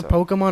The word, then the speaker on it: Pokemon: wrong we established that it's Pokemon not poem Pokemon poke it's Pokemon um no it's Pokemon that's what the little is above the E for poke Pokemon that doesn't exist in